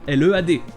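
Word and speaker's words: lede: D'ailleurs, c'est pour ça que beaucoup d'anglais l'écrivent comme ça, L-E-A-D. Mais à vrai dire, ça s'écrit en fait lead, L-E-D-E. Ça se prononce pareil, mais ce n'est pas exactement la même chose.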